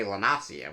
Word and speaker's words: Lanacia: Because I want to say Lanacia when I say it.